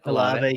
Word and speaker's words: Olave: How do you pronounce that? Olave.